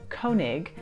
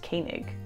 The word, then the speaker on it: Koenig: So it looks like Koenig, but the O and the E actually make an A sound, and so this is pronounced Koenig.